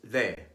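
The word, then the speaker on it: de: word for D is they it is pronounced by placing the tongue against the teeth like the th and the English words this and that between vowels it is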